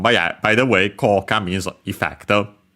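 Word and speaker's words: 効果: But yeah, by the way, Koka means effect. Chinese compound accent on the first mora.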